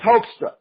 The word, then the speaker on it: Hoekstra: So, Hoekstra. It's Hoekstra. Mm-hmm. Okay, didn't know if I had to, put that E in there after the O.